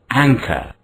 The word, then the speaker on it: anchor: Ang is a first syllable and it is stressed. Cur is a second syllable. The final R in the word is not pronounced. The first syllable which is stressed is ang. It's rather long. Ang. Ang. The second syllable is short. Cur is short.